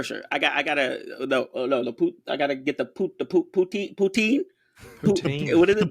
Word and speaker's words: poutine: You got to give it a second syllable, man. Are you having a stroke? How you say it again? Poutine. Or like in the French, I think the French kind of go like poutine. But like, screw that. Poutine.